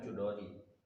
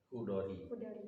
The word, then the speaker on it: Chudori: Bukan Chudori, Hudori. Nah, dia ejaan lama tuh, Leila Hudori, CH misalnya.